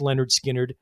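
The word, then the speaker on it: Lynyrd Skynyrd: of southern rock's three most essential recordings alongside leonard skinner's first album pronounced leonard skynyrd and the allman brothers live at the fillmore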